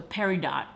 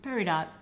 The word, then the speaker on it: peridot: Oh, it's a peridot. Peridot. I think the T is silent. Perido? Peridot. Peridot.